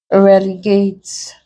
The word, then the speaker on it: relegate: Relegate, the stress is on the last syllable.